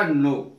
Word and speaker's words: know: एन ओ डब् में के जो है वो साइलेंट रहेगा इसका उच्चारण होगा नो नो माने जानना एन